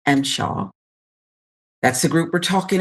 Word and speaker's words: MSHA: It's pronounced Mshaw.